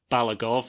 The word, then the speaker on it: Balagov: Yeah, I think I may have flobbed his name on the intro, but it's definitely Balagov and not any other rearranging of phonemes.